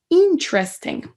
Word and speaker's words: interesting: dernier tu es là si vous dites et interesting et que vous mettez pas d'accentuation nulle part un pareil c'est bien du mal à vous comprendre la wii la petite et apostrophe allait tout au début on va dire interesting et on va l'écouter une façon donc s'est accentué sur la première il fait intel oui